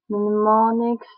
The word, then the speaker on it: mnemonics: Mnemonics, the initial N is silent, are clues of any